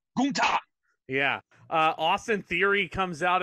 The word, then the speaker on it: Gunther: they called him Gunther, and he goes, "It's pronounced Gunther."